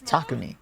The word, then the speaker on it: Takumi: It's Takumi. Don't encourage her. It's a ta sound, not a t sound.